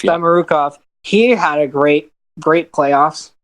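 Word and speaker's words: Samorukov: Samarukov, yeah. Samarukov.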